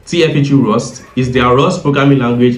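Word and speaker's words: TFHE-rs: And TFG RS pronounced TFG Rust is their ROS programming language implementation of It's basically a fast efficient engine that handles the encrypted computations.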